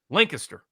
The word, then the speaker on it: Lancaster: He's an Amish farmer in Lancaster County, but it's actually pronounced Lancaster.